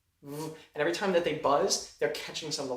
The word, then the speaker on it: Baz: Yes, my name is Buzz. How would you spell that? Is that uncon? It's B A Z. A what do you mean? Buzz. Okay. So, like Buzz, but with an A.